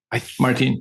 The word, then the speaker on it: Martín: So I always thought it was Martín because he is... Martín, see. Because you have the apostrophe on the I, which stresses it.